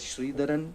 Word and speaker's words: Sridharan: name and last name, it's pronounced as Sridharan. I know it's still a tongue twister for all of you, so you can just call me.